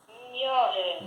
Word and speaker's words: ignorant: Ignorant. Volto a dizer para todos, o grupo GN se pronuncia como NH. Gn.